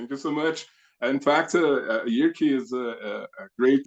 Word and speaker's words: Jyrki: you you could say it's it's Yuri, like you said. Thank you. I'm glad glad to be here. Thank you so much. In fact, Yuri is a a great name.